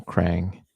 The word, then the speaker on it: Krang: So, um, but I've always thought of it as just one one a just your normal crang rhymes with tang batarang. That kind of thing.